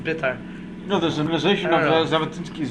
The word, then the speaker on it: Beitar: trying to And I heard that people say that really Beitar is supposed to be pronounced Bitar.